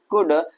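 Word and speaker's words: could: कुड क्या हो जाएगा? कुड और इसी तरह से हमारा जो एल ये वाला है यह क्या हो जाएगा?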